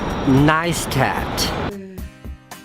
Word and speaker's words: Neistat: most recently and most very publicly Casey it's pronounced neistat but in the last 3 weeks I have